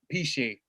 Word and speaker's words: Piesie: Well, my name is I picked this name Piesie, or Piesie is how the last name should be pronounced. It's Piesie. But I pronounce it Piesie.